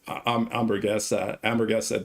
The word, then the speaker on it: hamburguesa: So you don't pronounce the H. It's hamburguesa de carne.